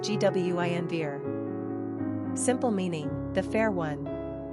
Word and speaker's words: Guinevere: Pronunciation, Gwynvere.